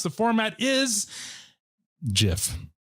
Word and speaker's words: GIF: pronounce the format is jif yes oh thank you like peanut butter yes ma'am it's [